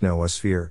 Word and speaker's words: noosphere: philosophy it is pronounced noah's fear two o sounds one long and stressed one short and unstressed tending towards schwa if one is being